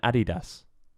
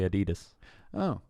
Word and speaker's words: Adidas: and Adidas. Oh, how else do you say that? They say Adidas.